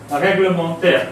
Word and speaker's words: règlementaire: aigu mais et verement donc on change aussi de prononciation réglementaire euh ça prend l'accent du nom dont il est formé c'est-à-dire règle règle et alors règlementaire aura toujours l'accent grave règlementaire et non unent AIG